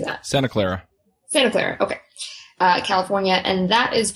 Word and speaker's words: Santa Clara: Santa Clara.